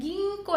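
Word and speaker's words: 銀行: Ginkgo, ini dibacanya ginkgo ya teman-teman, karena di sini ada huruf K, jadi dia mengikuti, jadinya jadinya ginkgo.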